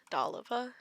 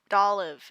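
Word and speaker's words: Dolliv: Doliva? Dolive. It's just Dolive. It's just Dolive. I'm adding syllables out here, y'all.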